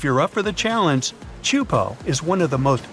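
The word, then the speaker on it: Teahupo'o: Chupo in Tahiti also has some of the heaviest waves in the world, breaking over a shallow reef and creating intense barrel rods.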